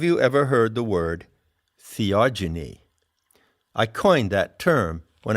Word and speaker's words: theogeny: ever heard the word theogeny i coined that term when i wrote the seekers handbook it's spelled h e o g e n y genie as in genesis generation epigenesis genetics so what it means is